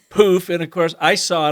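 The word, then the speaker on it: Pooph: And it's Poof, but it is spelled P-O-O-P-H. So it's poop with an H, Poof.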